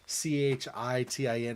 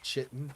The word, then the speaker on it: chitin: watch sometimes and he's so insistent that c-h-i-t-i-n is chitten instead of chitin and I'm like but